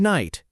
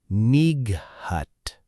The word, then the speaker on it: night: Because over time English speakers stopped pronouncing that old throat sound that g h used to represent, but the spelling never updated.